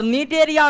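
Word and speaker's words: Cnidaria: जाता है need area और निडरिया में सी जो है साइलेंट रहता है।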